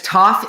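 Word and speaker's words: Toph: five finish the quote my name is toff it rhymes with oh this is fun rhymes with rough gruff tough buff well i mean i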